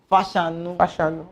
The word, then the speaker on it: Fashanu: John Fashanu, the name is Yoruba, right? You call him Fashanu. What? Fashanu. Fashanu. That's the real pronunciation.